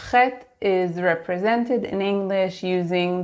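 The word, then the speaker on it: חית: When you see KH, you know it's the letter Chet, and you know that you pronounce it ch.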